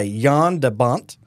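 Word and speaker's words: Jan de Bont: June 10th 1994 the film was directed by yon debont you know that's fun to say that is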